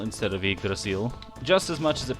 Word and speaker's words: Yggdrasil: chat who are wondering why i'm saying you draw seal instead of yggdrasil it's because that's the way the game pronounces it it pains me to say you draw seal instead of igrasil just as much as